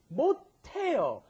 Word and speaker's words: 못해요: Now, notice that pronunciation may sound a little strange. You've got 못, which has an S at the bottom, followed by the H, 하다. Why does it come out te?